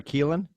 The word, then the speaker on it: Kylan: put kai is it is it kylan or keelan kylan yeah you said it right okay which is a